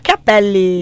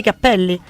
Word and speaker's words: cappelli: Cappelli sono tanti cappelli. E i capelli, cioè un capello è un singolo capello, uno. Ok. Tanti capelli. Ok, fino a lì ci arrivo. Solo che a seconda della pronuncia, capelli o cappelli.